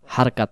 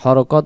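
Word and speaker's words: حركات: ছোটবেলায় আমরা পড়ছিলাম না, জেরে জবর পেশকে হরকত বলা হয়, হরকতের উচ্চারণ তাড়াতাড়ি পড়তে হয়। আসলে হরকত না, হারকাত বলতে হয়।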